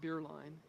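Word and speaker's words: Bierlein: My name is Beerline and Beerline is spelled B I E R L E I N and my title is curator of education.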